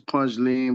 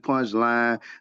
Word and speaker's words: Punchline: It looked like it's Punch Lean, but it's Punchline.